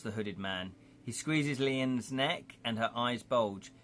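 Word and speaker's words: Lian: Leon rhymes with Ian, or Leanne rhymes with Anne. It's actually Ian, because it's spelled L-I-A-N, but my brain, for some reason, won't have it.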